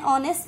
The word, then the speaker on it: honest: Same in the case of an honest man. Honest, in case of an honest man, here also H is silent.